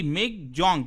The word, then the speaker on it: Michaung: गया है मिक जंग देखिए इसका प्रोनाउंस एशन जो है वो बेसिकली एम आई जी मिग जंग जे ए यू एन जी इस तरह से किया जाता है ये बेसिकली म्यानमार के